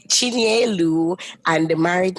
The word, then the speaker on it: Chinyelu: So Jessica, please help me with the pronunciation. Chinyelu. Chinyelu, and the married name?